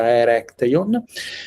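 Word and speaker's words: Erechtheion: dentro dessi quadro di eh architettura provincial, eu comecei a comecei a trabare in Atenas e come a trabionte na verdade pronuncia corretta erecteon sobre erecteon que um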